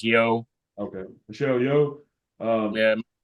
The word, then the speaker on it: Yeoh: How do you say it, Colton? I think it's Yo. Okay. Michelle Yeoh. Yeah. I think it's like Yo.